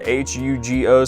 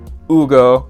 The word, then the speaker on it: Hugo: It's spelled H-U-G-O, so people call him Hugo or Hugo. It's Ugo, and I guess a common question that people